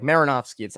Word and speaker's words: Marinofsky: It's funny because the name is how it's like Marinofsky. I feel like it's how it's spelled. The only question is like a lot of people think it's an I at the end because it's ski instead of sky.